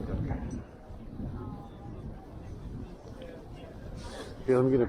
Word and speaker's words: Danke: How do you say thank you? Danke. Donka. I said donka.